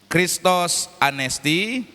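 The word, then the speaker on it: Χριστός ανέστη: Salam Paskah ini diucapkan dalam bahasa Yunani begini bunyinya. Kristos anesti.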